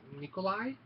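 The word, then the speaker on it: Nicolae: Left Behind Tribulation Force I'm about 100 sure that this is pronounced Nikolai um I read the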